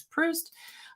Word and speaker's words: Proust: It's not Proust, it's Proust.